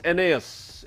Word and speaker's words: ENEOS: So, Papa Enos Naos is how it's being pronounced.